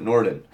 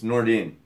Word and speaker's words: Nordine: Why did I pronounce it Norden? It's Nordine. It's easy to read it as Norden, but it's Nordine.